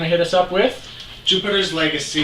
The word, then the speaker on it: Jupiter's Legacy: hit us up with Jupiter's Legacy. He said it right. He got it wrong like 12 times in rehearsal. It's not Juniper's Legacy.